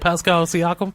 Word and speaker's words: Pascal Siakam: Pascal Siakam. Did I say it right? Pascal Siakam?